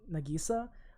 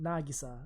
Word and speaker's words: Nagisa: They say in the dub, I know they say Nagisa, but they emphasize in the I. But in the Japanese dub, we call it Nagisa with the emphasis on the A.